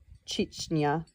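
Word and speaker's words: Chechnya: Footnote pronounced Chichna, a small predominantly Muslim republic of about 800,000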